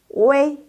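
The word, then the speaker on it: 维: Jadi xiaopengyo kalau lihat di dalam ejaan, di dalam pinyin ada U dengan I, jangan dibaca UI. Dibacanya wei.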